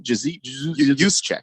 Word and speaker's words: Juszczyk: Juszczyk is how it's pronounced.